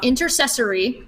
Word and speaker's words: intercessory: study of inter since I always say it wrong intercessory because I want to say sensory but it's not its intercessory which just means groups